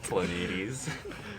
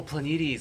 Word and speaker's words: Planetes: Planetes. Wait, there's a song called Planets. How do you pronounce it?